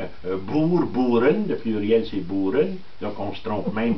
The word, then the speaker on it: Boer: En réalité, il apparaît quand il y a la guerre qu'on appelle ici des Boers, qui est la guerre des Boers, en hollandais, O-E, ça se prononce Pou.